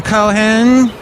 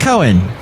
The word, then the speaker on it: Cohen: an interview with Sam Cohen and I don't think you pronounce his name like that Cohen that's better and we will also